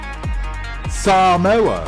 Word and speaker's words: Samoa: Smarties that makes sense Samoa which is how you're supposed to pronounce it Easter Island lovely Puffin